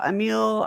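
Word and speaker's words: Émile: the collective intelligence uh a meal or i know i think it's a meal is how uh it's pronounced emil durkheim is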